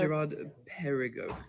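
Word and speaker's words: Girard-Perregaux: But How do you pronounce it? Gerard. Gerard Perigo.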